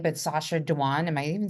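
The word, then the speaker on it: Sacha Dhawan: So, I always butcher his name, but Sasha Dwan, am I even saying it correctly?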